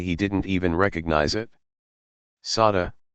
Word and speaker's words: Sade: Sade, pronounced Shah-day, is a singer.